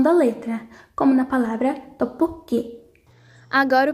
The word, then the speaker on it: 떡볶이: Quando são seguidas de consoantes, elas fortalecem o som da letra, como na palavra tteokbokki.